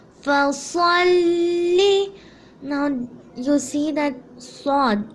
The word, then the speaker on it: ص: Now you see that sod, it's also from the harufa talafus. So that's why you have to pronounce it correctly. And the way of pronunciation is sod.